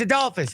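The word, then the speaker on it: Adolphus: Bush found in bud I get the first name wrong then what I what the first name I called it's ad Dolphus ad Dolphus Bush I didn't call him ad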